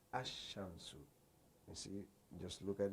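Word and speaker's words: الشمس: Example: when you say al shams, the sun is pronounced ash-shamsu.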